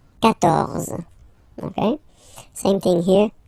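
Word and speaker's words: quatorze: So remember, Q and U here, well, basically you get to put this U vowel, because that's the rule in French, even if you don't pronounce it, okay? So you will get the sound K here. K.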